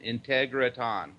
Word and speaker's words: Integratron: Integratron. Oh, Ton. Okay, I thought it was Tron. Okay, no, good. No, it is Integratron.